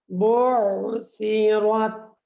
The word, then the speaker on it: بعثرت: তারপরেই হচ্ছে ওয়াইদাল কুবুরু বু'থিরাত এই জায়গার মধ্যে বু'থিরাত যদি আইনকে বেশি উচ্চারণ করা গিয়ে আইন ২ বার হয়ে যায় তাহলে এর উপরে কিন্তু একটা তাসদীদ চলে আসবে। এজন্য আইনটাকে আপনারা সুন্দর করে পড়ার চেষ্টা করবেন।